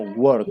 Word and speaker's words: worked: Exacto, o sea, tenemos work que normalmente termina en K, pero al agregarle la D quedaría como worked.